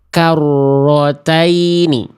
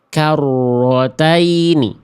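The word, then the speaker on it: كَرَّتَيْنِ: Karrotaini karrotaini. Siapa yang masih baca rnya begitu? Karrataini.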